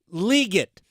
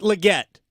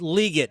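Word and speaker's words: Legette: It is pronounced Xavier Leggett, not Leggett, or not Leggett. It's Leggett.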